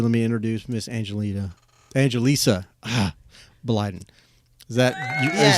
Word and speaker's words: Angelisa: without further Ado let me introduce Miss Angelina Angelisa ah Biden is that is that the proper I I I don't know why I wanted to say Angelina but I I put it in properly you're